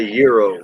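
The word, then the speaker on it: gyro: Yeah, and they say euro. And that's how they pronounced it too. Kind of in between an H and a Y.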